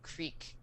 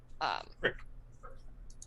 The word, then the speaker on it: creek: So then you're traveling along this trail, and you come up alongside a creek or however you want to pronounce it, a small tiny river. Crick.